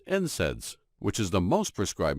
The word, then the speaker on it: NSAIDs: They also discovered that proteolytic enzymes are completely safe compared to non-steroidal anti-inflammatory drugs, or NSAIDs, pronounced NSAIDs, which is the most prescribed medication for treating conditions such as arthritis.